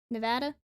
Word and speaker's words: Nevada: could move there laughs did you know Nevada is pronounced with the first a being like the a in cat Nevada yeah how are we